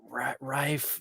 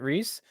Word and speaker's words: Rhys: name taika what TT's in it and um Rife no Ralph it's I don't know how to pronounce his first name Rhys Darby yeah yeah is that how you pronounce it Rhys yeah yeah so he's the main guy and